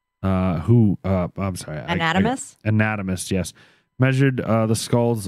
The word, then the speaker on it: anatomist: skulls and these anime how do you say that word anatomy and i will keep wanting to say anatomy anatomist these anatomists believed that skull